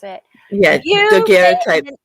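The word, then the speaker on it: daguerreotype: The Daguerre type, or however you pronounce it. Yeah, Daguerre type.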